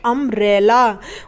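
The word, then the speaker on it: umbrella: दो कंसोनेंट्स हो गए तो इसलिए यहां पर हम यू को क्या पढ़ेंगे एन पढ़ेंगे अमरैला उमरिया अंब्रेला इस तरीके से यू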